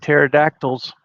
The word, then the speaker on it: pterodactyl: Like pterodactyls. You heard that one, hadn't you? Why can you not hear a pterodactyl urinate in the woods? It's because the P is silent.